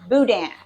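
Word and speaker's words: boudin: ask if they had Budan but um b o u d i n but b o u d i Nan people call that Budan and the Cajun people pronounce it Budan and it comes it's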